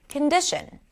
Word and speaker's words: condition: Let's take the word condition. The middle syllable, di, is the primary stress. Condition, condition. The middle syllable is longer, louder, and higher in pitch.